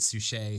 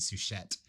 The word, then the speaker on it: Suchet: podcast because early on i mispronounced uh the name of actor david suchet who um has famously played poirot for the bbc for many years and i i pronounced his name david souchette and in um uh